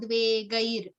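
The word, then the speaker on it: द्वेगैर्: So Harsha, Marsha, Bhayo, Dve, Gair is Gay, just gay, the gay. I, yeah, the I syllable in that word.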